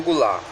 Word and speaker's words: Goulart: bom João vou lá vocês que falam inglês o termo no final nem pronuncia né João Goulart Então é só seguinte